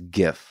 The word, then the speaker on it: GIF: Scientology created a GIF or a GIF. How do you say it? What's the right way to say it? The correct way is GIF.